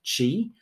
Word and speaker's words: Qi: need for a cable it is pronounced Chi although you'll see it spelled q i from a hotel point